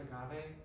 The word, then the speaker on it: agave: But I also need somewhere to keep my Blue Agave hot sauce. Somewhere to keep my Death Wish instant coffee. And somewhere to keep my whey protein bar. What's that, Megan? It's pronounced agave.